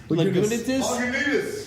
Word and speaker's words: Lagunitas: I don't even know how to pronunciate this. Yeah. Lagunitas. Lagunitas. Lagunitas. Lagunitas.